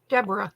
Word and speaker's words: Deborah: I'm gonna spell it out for you, okay? DEBORAH. Deborah.